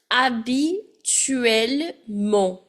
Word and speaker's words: habituellement: Now, just like généralement, we can also use the expression habituellement. Where my H is silent, habituellement.